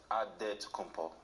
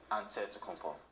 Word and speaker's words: Antetokounmpo: The Nigerian way, you gotta say it with a D, so it's Antetokounmpo. But in the Greek way, you say it with an NT, like Antetokounmpo.